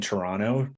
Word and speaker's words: Toronto: at home in in Toronto didn't pronounce the second T there so hopefully sound like a pro there we go can